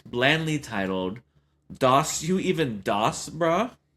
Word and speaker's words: DOS: And that's how you have to say it. Doss you even doss brah. I was trying to understand it in my head when I read it like how do you say this? Yeah. It could have been like German sounding or uh who or who knows. I said does in my mind I was does you even doss bro?